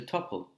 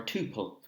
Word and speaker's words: tuple: but we can just use a tuple, or a tuple, you can pronounce it.